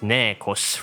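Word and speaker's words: Neikos: His codename is pronounced Nekos, referring to a quarrel, wrangle, battle, or strife.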